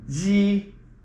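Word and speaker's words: 夕: And that is spelled with an X and an I, and it's with the, there you go. The accent goes straight. That means that it's just an even tone all the way through, and it's like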